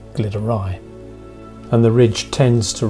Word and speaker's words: Glyderau: to correct myself here I'm wrong about both the pronunciation and my compass bearings the mountains are in fact called the Glitters and not the gliders and in Welsh they're referred to as the glitter ey and the ridge tends